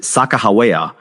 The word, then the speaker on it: Sacagawea: Well, many Shoshone people maintain that her name means boat launcher and pronounce it Sacagawea, while others use different pronunciations.